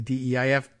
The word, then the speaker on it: Deif: of the Al-Qassem Brigades, better known as Mohammed Deif, if I'm pronouncing that correctly, D-E-I-F, Deif, and Ismail Haniyeh, Hamas's political leader.